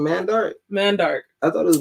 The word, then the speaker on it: Mandark: say his name mandarin mandark i thought it was mandark it's not mandark it's man dark like a man that's dark that's how you spell